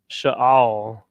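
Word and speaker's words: שאל: definition of salute and the pronunciation is sha'al you understand continuing here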